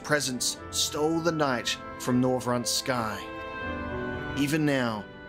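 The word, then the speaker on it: Norvrandt: what is the pronunciation noront with a t with a T you actually say the T it's not silent no rant Rembrant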